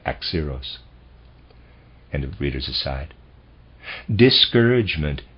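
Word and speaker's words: Axieros: the khabiri be deciphered i'm not sure how to pronounce that readers aside x0 is spelled a x i e r o s and i'm pronouncing that x zeros and of readers aside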